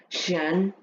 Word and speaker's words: chien: Chien, yeah, I didn't talk about this one. So, chien. This one, normally CH in French now is pronounced with an sh.